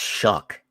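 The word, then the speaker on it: Shough: Cuz in no language on the planet that I know of does o u g make the uh sound.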